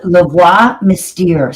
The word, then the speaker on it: La Voix Mystère: So it's called La Voix Mystère. So it's spelled Lavoix, La Voix, which is the voice in French. Mystère, which is mysterious, Mystere.